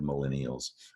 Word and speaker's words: millennials: So there's an L at the end of millennials. You want to be sure to catch that and not drop it out because it's not in the word millions.